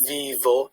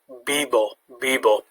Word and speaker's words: vivo: more often than not in spain the v is pronounced a bit like the b so rather than vivo it's bibo it can vary but